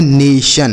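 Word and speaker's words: nation: एन ए से पढ़ेंगे ने और टी आई ओ एन को सन। यह लिखा गया है नेशन।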